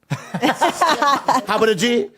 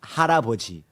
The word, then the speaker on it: 할아버지: Is how about a G the right way to say it? No, that's not. How about a G? How about a G? How about a G? How do you say it? I want to learn Korean. Go ahead. okay. Yeah. 할아버지. 할아버지. Yes. Thank you. That's what I said earlier, but faster.